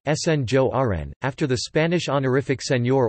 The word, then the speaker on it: Sinjoren: The inhabitants of Antwerp are nicknamed Sinjoren, Dutch pronunciation, Sinjoren, after the Spanish honorific seigneur or French seigneur, Lord, referring to the Spanish noblemen who ruled the city in the 17th century.